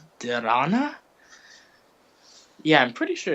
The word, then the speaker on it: dharana: And then after pratyahara comes, I believe it's, I'm gonna say it's dharana. Yeah, I'm pretty sure it's dhyana. Let me just make sure I'm pronouncing it correctly. After pratyahara comes dharana.